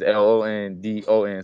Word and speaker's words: Lunden: know what the doc so it's l-u-n-d-e-n and your your mother's name is is l-o-n-d-o-n so it's it's london too but it's spelled the right way did she did she